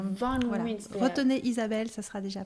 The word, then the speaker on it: Van Wynsberghe: C'est une origine flamande. C'est le nom de mon mari, en fait, que j'ai pris en l'épousant, tout simplement. Alors, redis-le encore une fois, s'il te plaît. Van Winsberg.